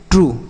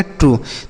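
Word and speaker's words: true: ट्रू। तो यहां पे जो यू का उच्चारण हो रहा है, वह क्या हो रहा है? यू यानी बड़ा ऊ की मात्रा के रूप में हो रहा है।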